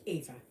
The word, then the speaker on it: Eva: It's just like my name is Ava, but it is spelt EVA, but pronounced Ava. Because in German it's Eva. And so to anglicize it a little bit, it's pronounced Ava.